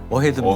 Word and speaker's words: AHEAD: AHEAD 그 Advanced Heat Efficiency and Destruction의 약어인데요. 발음하기 좋게 어헤드입니다.